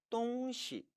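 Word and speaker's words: 东西: 이 시를 경성 처리해서 똥시, 똥시라고 발음하면 사물, 물건이 된다라고 배운 적이 있죠.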